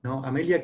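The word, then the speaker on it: Earhart: opuestos tenemos una mujer que desafía amelia es cartero que se pronuncia así a media que hizo fue la primera mujer que tomó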